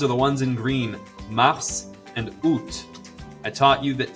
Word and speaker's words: mars: The next ones are the ones in green, mars and août. I taught you that T and S are usually silent at the end of the word. Not this time. Mars and août are fully pronounced.